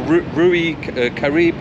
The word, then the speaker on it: Riu: and we're off to Hotel rui Caribe proper correct Latino pronunciation there for five nights